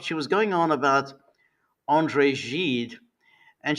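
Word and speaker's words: André Gide: She was going on about Andre Jed and she kept pronouncing him as Andre Gid. Now, if you're going to go on about Andre Jed, I mean, you might at least get his name right because if you say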